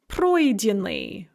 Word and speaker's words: пройденный: on the first syllable rather than the second syllable. The same with пройти, to pass or go through or complete. Она прошла, пройденный, passed or completed or gone through.